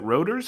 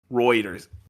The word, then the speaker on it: Reuters: a new report from I never know how to pronounce it is it rers or roers Reuters what yeah I know yeah yeah